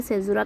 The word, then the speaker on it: caesura: तो ये जो सभी को पता है सेजुरा कहते हैं। यहाँ पे स्पेलिंग थोड़ी सी मिस्टेक होगी तो स्पेलिंग पे मत जाइएगा। ओके, सेजुरा स्पेलिंग है CAESURA।